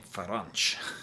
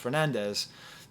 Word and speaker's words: Fernandes: I'm talking about a guy who we call Fernandes, but in Portugal they pronounce his name Ferranch. It's like, what happened to all these words? Apparently in Brazil it would be pronounced Fernandes, but still, every once